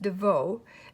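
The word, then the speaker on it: Devost: last name is pronounced devoe it's french i had to ask her so you don't pronounce the s and t but go watch her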